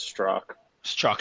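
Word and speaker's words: Strzok: at Twitter Mario for what it's worth it's pronounced straw struck thanks bro uh who was our general counsel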